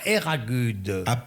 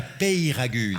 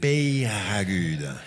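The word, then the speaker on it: Peyragudes: Et si elle a gagné un week-end à Eragude. Non, prononcez comme il faut, Maître Lelon. Un week-end à Peyragude. À Eragude. Peyragude.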